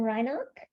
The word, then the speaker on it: Reinach: We have a public comment from Reinach, and I hope I'm pronouncing that correctly. And Mr. Reinach, you're unmuted, or you're muted, but there you go. Thank you very much, Rachel. And yes, you did pronounce my name correctly.